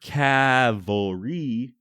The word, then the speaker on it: cavalry: of the third Colorado Cavalry I have to pronounce the word Cavalry like this because I'm tired of people telling